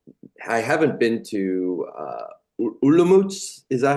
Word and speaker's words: Olomouc: Uh I have I haven't been to uh Olomouc. Is that how you say it? Yes, Olomouc.